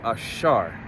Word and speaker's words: Asher: which is the tribe Asher okay which is the so-called Columbus to Uruguay and to say it in the Hebrew is ashar okay now since we're